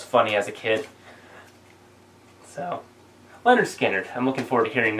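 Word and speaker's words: Lynyrd Skynyrd: Leonard Skinner, pronounced Leonard Skinner.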